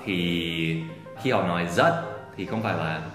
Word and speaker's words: rất: Còn chữ R thì khi họ nói rất thì không phải là rất, không phải là rất, rất. Không phải. Cái chữ R trong tiếng Sài Gòn á, thì mọi người thường nói là chữ G.